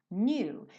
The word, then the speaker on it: knew: But if you only knew. Então percebe que esse K é mudo, né? O K do know é mudo, o do passado do know também, knew, também vai ser mudo, né?